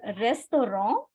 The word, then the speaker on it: restaurant: as in English and in French it is called restor restor and it is a masculine